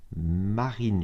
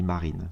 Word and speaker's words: Marin: Marine, je pense qu'on dit Marine, souvent les noms slaves on prononce toutes les lettres.